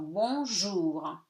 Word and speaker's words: bonjour: J, O-U gives you OU, and R is read at the end if it's not after the E. Okay, except for the one syllable words like cher. Okay, so bonjour.